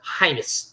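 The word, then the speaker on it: Reims: 21 goals for uh I believe that's highness is how you pronounce that um and they're probably still heims spell it but spelled r-e-i-m-s and in uh in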